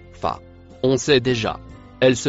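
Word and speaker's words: فَ: La lettre en rouge au début du mot en couleur marron se prononce fa.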